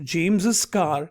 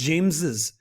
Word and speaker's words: James's: hear the pronunciation it's James's there is the there is the stress on the extra s James's car was in